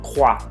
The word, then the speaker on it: croix: Croix. ¿Sí? Tenemos un ejemplo con X, croix, en vez de croix o algo así que me lo quisieran pronunciar.